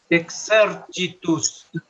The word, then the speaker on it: exercitus: manus, manus, exercitus. La X se pronuncia como en español, ¿sí? Exercitus. La C seguida de I como che.